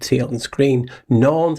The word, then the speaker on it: Norns: Norns in Norse mythology is pronounced exactly like norms, with an N instead of an M.